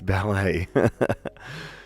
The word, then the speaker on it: ballet: me in the face ballet there we go ending with a silent T great beautiful beautiful Draconian